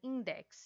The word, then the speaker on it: Index: companhia de jesus e inquisição e index também index né que é assim que se pronuncia é no século 16 a igreja católica